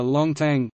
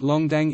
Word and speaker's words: 弄堂: Each residence is connected and arranged in straight alleys, known as a longtang, nongtang pronounced longdang in Shanghainese.